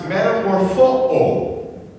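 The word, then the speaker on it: metamorphoō: And the word for transformed, this little Greek word is pronounced metamorpho. And it's where we get our word metamorphosis from. Okay?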